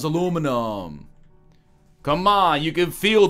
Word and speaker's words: aluminium: I don't have a rational reason for this, but it's not aluminium. It's aluminum.